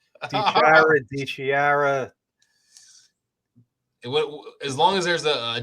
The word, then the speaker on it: DiChiara: But yeah, it's DiChiara.